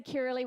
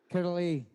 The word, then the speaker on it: Kirrily: got to say, so I love the way Scottish pronounce Kirrily. Steve, can you just say my name? Because I love it. Can you say Kirrily with your beautiful accent? Kirrily. Kirrily, isn't it great? Oh, Poetic. It's fabulous. Poetic. That's how I want everyone to pronounce my name from now on.